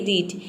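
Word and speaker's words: reach: करना है जैसे कि रीच यहां पे देखिए आर का हो जाएगा र ई ए का हो जाएगा ई सी एच का हो जाएगा च पूरा हो जाएगा रीच रीच मतलब होता है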